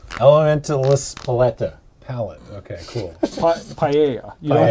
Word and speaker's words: paella: Paella. You don't pronounce it. Paella.